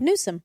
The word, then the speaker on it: Newsom: How do you say his last name? Nuome. Nuome. Yeah. Okay. There's no N deep in there. Nonome or anything.